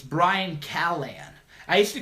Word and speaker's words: Callen: I'm cool with everybody I don't get mad Callahan and then watch awesome dude sounds fun yeah